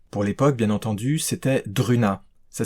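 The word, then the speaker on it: Druuna: m'a vraiment satisfait pour l'époque bien entendu c'était druna ça s'écrit Dr u u na a dans les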